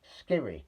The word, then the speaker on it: Skhiri: Leroy Sané, second minute goal for Germany and then there's Elias Can't pronounce his name. Yes, I'll go I'll try to. Elias Ellyes Skhiri, that's it, Skhiri.